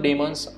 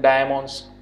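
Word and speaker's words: daemon: कई लोग इसको प्रोनाउंस करते हैं डायमन्स, ठीक है, कई लोग बोलते हैं डीमन्स, तो आप यहाँ पर कोई भी चीज़ यहाँ से प्रोनाउंस कर सकते हो, ठीक है, जो भी आपको अच्छा लगे।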